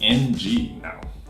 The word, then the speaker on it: Ng: Wu like wlo but there's another way of saying it it's ng how do you want to say ng you know good pretty confusing right so to say that that this actually a translation of Wu but in Cantonese so in Cantonese who